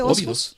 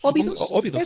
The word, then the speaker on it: Óbidos: El de Josefa, ¿cómo se pronuncia este? Óbidos. Óbidos, sí, que fue una pintora de origen portugués.